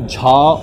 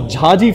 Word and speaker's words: Jha: And as he would like to pronounce it, Jha or Ya. That's how his name was pronounced back in Canada many years back.